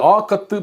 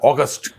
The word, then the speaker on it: ஆகத்து: இன்றைக்கு ஆகத்து 17. அது என்ன ஆகத்துன்னு பார்க்குறீங்களா? அது வேற ஒன்றும் இல்லை, ஆகஸ்ட். அதில் அந்த இஸ்ன்ற எழுத்து இருக்கு இல்லையா, அதை உச்சரிக்கக்கூடாது. அது வடமொழி எழுத்து.